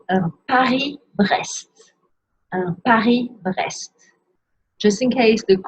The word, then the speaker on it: Paris-Brest: Un Paris-Brest. So don't pronounce the S in Paris, but pronounce all the letters in Brest, which is also a city.